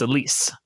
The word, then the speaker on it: Elise: it was publisher publisher her name is Elise yeah it's spelled Alice though it's stupid yeah so